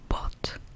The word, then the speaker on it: bought: pour les débutants, mais c'est la terminaison en GHT et on va dire bought, I bought, I have bought.